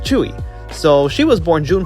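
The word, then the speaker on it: Tzuyu: looks like it's pronounced suyu believe me I've made that mistake myself as well but it turns out it's actually pronounced chewy so she was born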